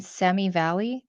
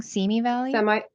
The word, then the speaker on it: Simi Valley: The Biggest Loser was filmed in Semi Valley. Am I saying it wrong? Simi Valley?